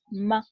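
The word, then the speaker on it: 吗: They use a particle which is called, it's pronounced ma, to put like a question mark at the end of the ni hao.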